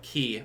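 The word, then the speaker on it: Khei: Now, of course, the name given on this is just K, K-H-E-I, or Key, I think it would be pronounced.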